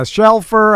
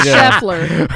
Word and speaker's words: Shelfer: us, and Shelfer. How you guys doing? I'm doing excellent. I'm so proud of you for pronouncing it correctly. You normally get it wrong. What do you normally do? Scheffler.